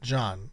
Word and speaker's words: Jean: But Yeah, shout out to John. It's spelled Jean, but I think it's pronounced John, for the growth